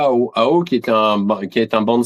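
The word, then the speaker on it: Hao: Bref, et moi, pour me séparer de lui, il m'a envoyé à Ao. Ao, c'est un atoll, ça s'écrit H-A-O, qui est à mi-chemin en réalité à vol d'oiseau entre Tahiti et Mururoa.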